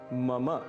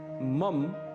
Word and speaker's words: मम: पहला पद है मम। इसे मम बिल्कुल भी नहीं कहना है। इसका शुद्ध उच्चारण है मम। मम अंत में अ की ध्वनि अवश्य आनी चाहिए।